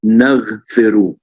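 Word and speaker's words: نغفر: The word on the top one is naghfiru. Kalau kita perhatikan, yang di atas itu dibacanya naghfiru, which means we forgive or we give mercy.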